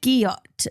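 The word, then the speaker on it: gyat: so then we've got guot spell g y a t pronounced guot you've heard this one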